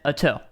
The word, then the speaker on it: Ato: Ato, not Ato. You just spelled the same thing. But I've talked to Ato, and he said Ato. So I'm going to say Ato.